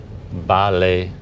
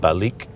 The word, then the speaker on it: Balik: is it called again Bali oh like right there the ballet okay but you don't pronounce the k at the end it's not balik balika Brazilian pronunciation for